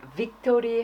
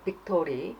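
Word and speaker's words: victory: 베이스먼트, 베드 이런 식으로 쉬운데 이제 빅토리 할 때 하는 V 발음은 틀릴 때가 많아요. 빅토리 해야 되는데 빅토리 그 다음에 비타민 해야 되는데 비타민 이렇게 말하는 경우가 많죠.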